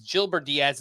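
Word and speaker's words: Yilber Díaz: actually turns out it's jilber Diaz it's spelled with a Y but I heard it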